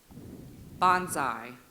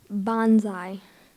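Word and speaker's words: banzai: Bonsai. Noun, a Japanese cheer, a cry of enthusiasm or triumph, usually used interjectionally. Bonsai. Bonsai. May I have the language of origin? This word is from Japanese. Bonsai.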